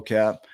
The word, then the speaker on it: Cap: So welcome to the show, Cap. Thank you for having me. And I love it because it's Cap with a silent T at the end.